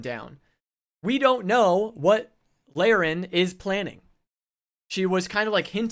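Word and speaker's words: Laerryn: So, that's big news for Lorraine.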